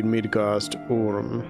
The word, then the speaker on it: Midgard-Orm: I think it's probably supposed to be Midgard-Orm, as it would be pronounced like modernly. The O would be like a U rather than an O, if you wanted to be correct about it.